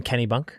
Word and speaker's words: Kennebunk: We were up in Kennebunk.